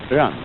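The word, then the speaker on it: 仁: Although when we Romanize this word in English, we spell it J-E-N, it's pronounced Rön. Sort of like rolling an R, or rather saying R but not rolling it.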